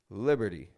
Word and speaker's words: Liberty: Liberty Statue of Liberty Liberty not pronouncing a strong T it's real soft real quick Liberty how about the next